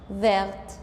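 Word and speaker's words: verte: عندي فير فيرت كمان بلو بتبقى بلو بضيف لها لتر أ لكن مش بيتغير نطقها.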